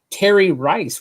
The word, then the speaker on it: Terry Rice: I have with me today Terry Rice, rhymes with Jerry Rice, one of the greatest wide receivers of all time.